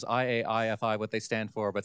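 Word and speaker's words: IAIFI: guess can tell you I aii pronounced IFI no one gets it right unless we tell you is the NSF aai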